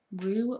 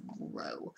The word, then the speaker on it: Ro: Rue or Roe? I'm pretty sure it's Roe, because Rue's R-U-E, so it's Roe.